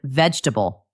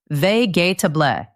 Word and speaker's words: vegetable: Or maybe you hear the word vegetable. You see 4 syllables, vegetable, but you hear the speaker say it with 3, vegetable.